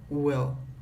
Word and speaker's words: will: Então a palavra will, como eu falei, ela primeiramente não é um will, ela é entre I e O. É um will. Quase um O. Na verdade, eles vão falar um O. Você vai perceber que a Leila fala he'll like you. O will é muito reduzido.